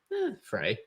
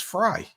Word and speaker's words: Frey: said Chris Frey yeah that is the fry thank you that it Fray it's fry yeah that's how it's pronounced this is the lowest